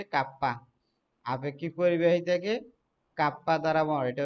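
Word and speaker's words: kappa: একে কাপ্পা দ্বারা প্রকাশ করা, এটার উচ্চারণ হচ্ছে কাপ্পা।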